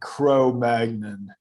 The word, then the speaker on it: Cro-Magnon: I just said in my American way "crow magnon," but people who speak French, which is where these people were found, pronounce it in a much more beautiful way.